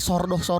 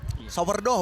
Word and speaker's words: sourdough: Ini tuh kayak enggak tahu ya, tapi kayak sordoh gitu. Sourdough bacanya Yes.